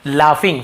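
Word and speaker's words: laughing: हंसना, लाफिंग, इसे UGH, ये क्या साइलेंट होता है, लाफिंग, फ ऐसे उच्चारण निकलता है, लाफिंग।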